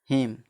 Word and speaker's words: HYMN: RHY नहीं आर नहीं, HYMN, HYMN। एम के बाद क्या है? एन है, तो इसका क्या हो जाएगा? हिम। HYMN, हिम। इसमें एन का उच्चारण नहीं होगा।